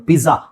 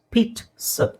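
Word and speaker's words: pizza: English ಅಲ್ಲಿ next ಇದು ಬಹಳ ಜನ ಮಿಸ್ ಮಾಡೋದು ಪಿಜ್ಜಾ ಪಿಜಾ ಪಿಜ್ಜಾ ಅಲ್ಲ ಇಟ್ಸ್ ಪೀಟ್ ಸ ಪೀಟ್ ಸ ಆ ಅಂತ ಹೇಳೋ ಅವಶ್ಯಕತೆ ಇಲ್ಲ ಪೀಟ್ ಇಲ್ಲಿ ಟಿ ಇದೆ ನೋಡಿ ಇಂಗ್ಲಿಷಲ್ಲಿ ಪೀಟ್ ಸ ಅಲ್ಲ ಸ ಪೀಟ್ಸ್ I feel like eating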